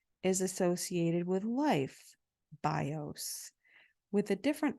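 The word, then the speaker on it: βιός: is associated with life bios with a different accent on the vowels so it's BIOS with the accent on the o and bios Accent on the eye and said the bow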